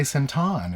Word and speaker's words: Central: And she said, "You have to say Sentan." And I was like, "Well, why would I say Sentan?" And she was like, "That's how it's pronounced in Thailand."